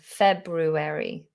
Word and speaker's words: February: month of our year it's the word february february oh it's a tricky one february february if you just said february and didn't pronounce that r after the b it doesn't matter february february or february